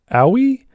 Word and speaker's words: Aoi: in the discord server is pronounced owie as an aoi okay and then it's